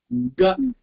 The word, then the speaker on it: क: க. இத அழுத்த கூடாது கண்ணா, சாஃப்டா சொல்லணும்.